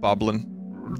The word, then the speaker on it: Bokoblin: on his uniform goblins I believe it's pronounced bokoblin but I'll accept boblin Jeopardy would too ah okay